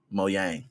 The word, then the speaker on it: Mojang: town i said machine how do you say that it's limited mojang mo yang mo yang studios i believe my yang